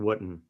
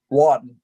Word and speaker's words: Wooten: Wooten? Is that how you pronounce it? Wooten or Wooten? Watton. Pretend it's got an A. Pretend it's got an A in it.